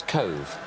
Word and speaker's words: Cobh: finder season from nowhere can you pronounce where he came from david yes cove cove cobh down in the a lovely shot